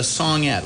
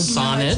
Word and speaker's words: sonnet: So I thought I'd do 14 lines, and he calls it a songette, a little song. Sonnet. No, it's a sonnet. What? Sonnet. Like I've a bonnet.